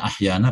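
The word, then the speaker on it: أحيانا: Bacanya ahyana pendek lagi. Ahyana dibacanya ahyana.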